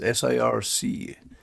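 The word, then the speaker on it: CIRC: it cir you yeah is it pronounced sirc what correct can you can you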